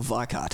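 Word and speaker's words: Weikath: The original lineup being Kai Hansen on guitar and vocals, and Michael Weikart, I should say. While we're on the pronunciation.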